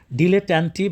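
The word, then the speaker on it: dilettante: ডিলেটন্টি বা ডিলেটন্ এটা American English বা ব্রিটিশ ইংলিশে উচ্চারণ দুইটা ভিন্ন ভিন্ন একটা হল ডিলেটন্টিটা ডিলেটন্ এই বানানটা কিন্তু তারা ভুল লিখছে।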